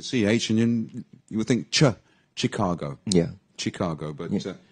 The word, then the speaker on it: Chicago: Asian you would think Chicago yeah Chicago but yeah it's like um chef chef is also c-h-e-f yeah and this is c-h-i-c-a-gi Chicago so it's spelled CH but it's pronounced s h yeah really this always